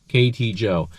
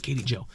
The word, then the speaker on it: KTJO: this is actually pronounced Katie Joe 4x4 right KT Joe uh because the lady who runs the place name is Katie I don't know everybody